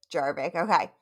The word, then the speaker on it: Jarvik: it's spelled Jarvik. Jarvik, okay.